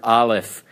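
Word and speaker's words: אלף: are familiar and you can hear the names pronounce this is the Hebrew letter Aleph it has no English approximation Olive this is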